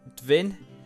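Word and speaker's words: Dvin: from Armenia and uh he said that dwin should be said as dinin and Lori is or should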